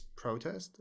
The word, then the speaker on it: protest: here, it's a noun, it's protest with stress at the beginning on the first syllable, protest. But when it's a verb, to protest, then the stress falls on the second syllable. So it becomes protest. Protest, noun, protest, verb.